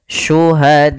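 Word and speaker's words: شهداءكم: Bila hamzahnya dalam satu kata, maka dinamakan dengan mad wajib muttasil. Maka cara membacanya panjangkan 4 harokat. Syuhadaakum min dunillah.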